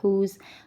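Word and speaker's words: whose: आए, ठीक हो गया, फॉर एग्ज़ाम्पल हु, हुज़। तो इस सूरत हाल में आपने W की व साइलेंट को W की जो व साउंड है तो उसको आपने साइलेंट रखना है और लेटर H की साउंड को निकालना है, डन।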